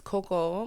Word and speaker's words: Cocoa: So my name is Coco, but it's spelled Cocoa.